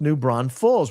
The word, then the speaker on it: New Braunfels: Braunfels, E-L-S, is L's. It's not Ulls, Braunfels.